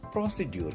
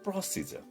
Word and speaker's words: procedure: आप इसको प्रोसीड्यूर कहते हैं, है ना? ये बिल्कुल गलत प्रोनाउंसिएशन है। इसको हम कहेंगे प्रोसीजर।